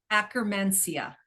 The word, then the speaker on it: Akkermansia: Is that how you pronounce it? Akkermansia.